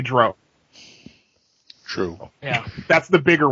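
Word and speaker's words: drow: d some will say Dro true yeah that's the bigger one you know Gary yeah Gary gak had to come out in a dragon magazine article and say it's Dr rhymes with cow he had to actually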